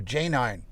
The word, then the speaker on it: Janine: spell it like that she spells it j a n i n e and we call her j nine that's uh one of